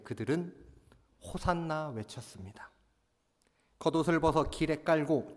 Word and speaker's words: 호산나: 호산나라는 말은 히브리어 원어를 살펴보면은 호시아나라는 말입니다. 이 호시아나라는 말을 그대로 헬라어식으로 발음한 것이 호산나인데 히브리 성경에서 사용된 대표적인 구절 중에 하나가 시편 118편 25절의 말씀입니다.